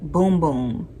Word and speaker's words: Bum Bum: processed chlorine free and chemically compostable okay panel pronounced boom boom this will make your heart go boom boom